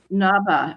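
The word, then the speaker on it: Ngaba: may know it as Aba which is the Chinese um pronunciation sort of like the Swedish band and um also it appears in some English sources as as Aba um it also appears as Noah. It's a a rather elusive place. Um, Naba, as I'm pronouncing it, is um on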